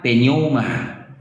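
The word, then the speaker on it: πνεῦμα: ada Cong Nah inilah penerjemahan dari Poma ya pelafalannya penoma ya asal mula dari 4154 kita Tengok ya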